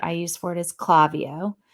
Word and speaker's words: Klaviyo: The platform that I use for it is Klaviyo. It's Klavio. Mhm. Klaviyo. You're right.